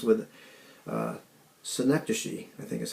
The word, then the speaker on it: synecdoche: where everything rhymes with synecdoche, I think is how you say it. It looks like synecdoche, but it's pronounced like Schenectady.